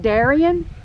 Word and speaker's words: Darian: It's spelled Darian, but the people around here say Darian.